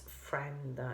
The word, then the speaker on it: friend: friend um about pronunciation please it's friend it's not friend okay you don't hear the I sound a friend no it's